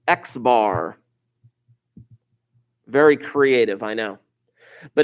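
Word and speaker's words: x̄: of greek letters rolling around here this is pronounced x-bar very creative i know but if you're dealing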